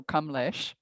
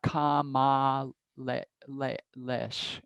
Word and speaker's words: Kamlesh: so like kamalash kamlesh it's a short so kamlesh that's my name in in sanskrit that babaji gave me kamlesh um there it's not kama le le lesh it's those a's are both short and if otherwise it would have to have a long a across it so it's a whole